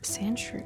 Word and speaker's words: Sandshrew: When Sandrew rolls up into a ball, its tough hide keeps it safe. It lives in the desert and sleeps in a borrow under sand. And you say it's Sand Shrew.